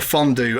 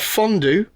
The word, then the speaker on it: fondue: Here, you have fondue that's supposed to rhyme with stew and crew. And it does that job perfectly fine. Why do you deliberately mispronounce it fondue so that it doesn't rhyme with either of those two words?